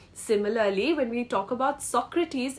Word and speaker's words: Socrates: RS a r e s but then it's pronounced as Aries similarly when we talk about Socrates it's not Socrates it's Socrates okay so with